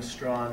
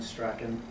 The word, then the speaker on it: Strachan: many of you know there are two legitimate and proper pronunciations of the surname uh those being strong and strien and I will use